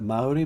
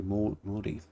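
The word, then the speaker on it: Māori: Everyone else would call it Maui, but in New Zealand they pronounce it the proper way. Moi exactly flawless.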